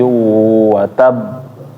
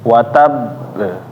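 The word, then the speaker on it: وَتَبَّ: tabbat yada abi lahabi wa tab. Ketika masuknya ya. Kenapa tasydid itu ketika masuknya? Watab, watab. Jangan watab kurang. Watab kurang. Tapi ketika masuknya diperjelas lagi watab.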